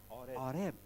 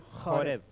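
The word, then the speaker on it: חורב: en los textos como Horeb. En realidad, bueno, la fonética En es hebreo se escribe cultural. Joreb, y con una J raspada, ¿sí? Así, Joreb. Joreb.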